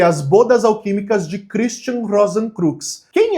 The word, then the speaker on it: Rosenkreuz: Não existiu, supostamente, um Christian Rosenkreuz na vida real, tá? Ou Rosenkreuz, né? Depende de como você vai pronunciar isso.